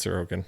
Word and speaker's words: Sorokin: know which one it i don't know which one it is now sorokin or sorogan it's sir okan that's what it is uh but it's canvas